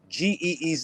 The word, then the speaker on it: Ge'ez: But the original Bible was written in Ge'ez, Geez. It's pronounced Ge'ez.